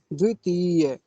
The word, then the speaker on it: द्वितीय: क्या होता है द्वितीय द्वितीय एक शब्द होता है इसके आगे का तृतीय तृतीय ऐसे बोलेंगे तो हमें इसका उच्चारण सही पता होना चाहिए द्वितीय अब अगला शब्द देखिए